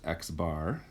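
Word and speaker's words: x̄: means okay we have this symbol which is pronounced x bar and that is the sample mean okay um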